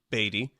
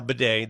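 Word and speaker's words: Badie: somebody like uh Tyler bedet formerly batty it's now Beday that is the proper pronunciation it's expressed that way in the Broncos media guide everybody ripping on Tim Brando president company included I thought Brando was butchering the name but nope you go to the pronunciation guide and he changed it this year from batty to bedet that's what it is Tyler bedet hits the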